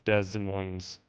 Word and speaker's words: Des Moines: Both L Both S's are silent. Look it up. I looked it up. It's Des Moines.